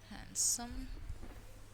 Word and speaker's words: handsome: also d is silent and handsome handsome noddy there do not say the sound of d next here column condem